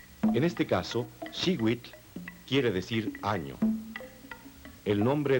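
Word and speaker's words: xihuitl: Cada cuadrete contiene el color turquesa que se pronuncia shiwit. En este caso, Shewit quiere decir año.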